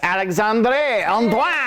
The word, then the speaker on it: Alixandrée Antoine: Very special guest, Alixandrée Antoine. You actually don't know how to pronounce her name, do you? That's actually how you say it.